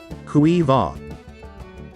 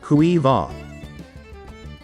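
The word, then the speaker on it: Caoimhe: ifa once again ifa how exactly do we pronounce this name kuiva let's repeat cuiva once again kuiva we're going to learn on how to pronounce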